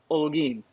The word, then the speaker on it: Holguin: Yeah, so I guess if this helps phonetically, it's like pretend it's Olgeen, if that helps. Holguin.